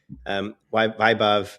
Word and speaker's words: Vaibhav: Vaibhav, I'm pronouncing it this right.